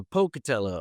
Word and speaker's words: Pocatello: It's a hard like poke. Oh pocatello.